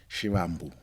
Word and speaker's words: Shivambu: I wanted to ask you your second name is it pronounced Shivamu or Shivambu? Shivamu.